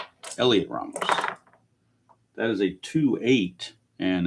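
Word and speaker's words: Heliot Ramos: Here is Elliot Ram Elliot Ramos. I forget the H is silent. Elliot Ramos. Elliot Ramos.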